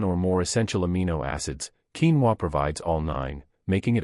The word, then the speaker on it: quinoa: Pronounced a quinoa, this powerhouse, was revered by the Incas as the mother of all grains.